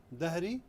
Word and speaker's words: ظهري: Wa is a difficult letter. Instead you can say, you can use like how it's written there. DH. ظهري. ظهري will work out. However, try to learn the correct pronunciation, which is ظهري.